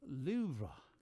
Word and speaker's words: Louvre: It's Louvre. Louvre? Okay, well, I'm not R-U-H. French. Sorry. L-O-O-V-R-U-H.